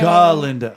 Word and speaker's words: Galinda: Oh, syllable. A. Galinda.